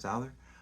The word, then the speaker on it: Souther: Souther.